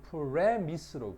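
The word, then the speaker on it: premise: 이것도 발음을 좀 잘 봐야 돼. 요거는 프레미스로 발음합니다.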